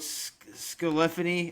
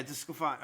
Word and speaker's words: DeSclafani: And I don't really, doesn't really, in my mind, with Scalifani, I think is how his name's pronounced out of San Francisco. Like, Desclafani. yeah, Desclafani. Okay, good pitcher, but he's already on the disabled list.